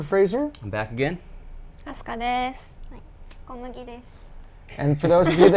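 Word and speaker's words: です: No, it's not death. It's desu. Desu, D-E-S-U, yeah.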